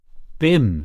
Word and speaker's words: Bim: malankov's eyebrows Rose you your beam is that how you pronounce it Bim said the other b